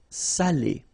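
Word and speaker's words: salé: without the accent so if you don't put the accent it means dirty and then you pronounce it Sal but in that case here okay you put the accent and it's quite important because in that case it means salted okay Sally okay say s say Delo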